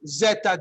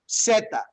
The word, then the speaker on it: zeta: It's the letter Z, but we never say Z as Zeta, okay? It's not like Catherine Zeta Jones, okay? It's Zeta, Zeta, Zeta. That Z is always pronounced like an S.